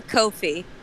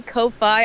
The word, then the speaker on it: Ko-fi: Ko-fi? I've seen it pronounced so many different ways. I assume Ko-fi because like, hey, buy me a coffee.